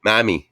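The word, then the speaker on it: mami: M-A-M-I. Mommy. Mammy. Like Spanish mommy. No, you got to say it like a Spaniard. Mammy.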